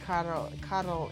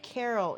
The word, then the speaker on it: Karol: Yeah, I painted Karol in the past. Remember, he told me in person once that it's pronounced Karol because Carol is woman name.